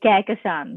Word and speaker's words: Kahkasan: you say Kahkasan. I know it's not like Yeah. written as it you should say Kahkasan.